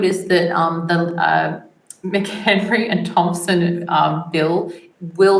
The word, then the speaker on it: McHenry: brand Bill and then Thompson and Henry I'm saying that wrong uh it is it's okay oh it's McHenry yeah you're saying it right right which that